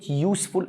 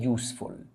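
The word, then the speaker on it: useful: ده بوك يوسفول بقى كلمه يوسفول اتنطقت ي اكتب عندك حرف اليو او الاي عندما ينطق ي يعامل عمل بالصوت فيعامل كساكن طالما اتنطق يبقى ساكن ي عامله ساكن اه تبقى اي يوسفول رغم ان اليو متحرك ولكن اتنطق ساكن اليو والاي لو اتنطقوا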